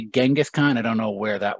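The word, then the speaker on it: Chinggis Khan: that one comes from genghis khan might be a little bit more of a closer to the original pronunciation but chingas khan is how he's usually said in mongolian so chingas khan in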